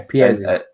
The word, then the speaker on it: Piesse: Bonnie Piesse. Yeah, Piesse.